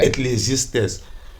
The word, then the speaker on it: Ecclesiastes: You feel how I pronounce it. Yeah. Ecclesiastes.